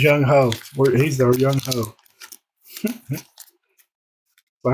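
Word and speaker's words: Younghoe: I don't remember what it was on, but it's like, y'all quit calling him Young Hui. That name says Young Ho.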